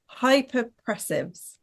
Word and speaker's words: Hypopressives: Hypopressives. Is that right? That's pretty good, to be honest. Okay, perfect. It's It's hypo. Hypo. pressives. Pressives. Okay, we got it.